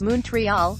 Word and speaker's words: Montreal: a piece of history Montrealers pronounced montreal as moon tree hall or like Munson Thurman I consider this a